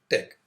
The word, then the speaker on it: TeX: Tech the extension of the file is Tech although it has the spelling T ex it is pronounced Tech this is the default